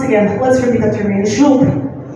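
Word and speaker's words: жук: Once again, Zhuk.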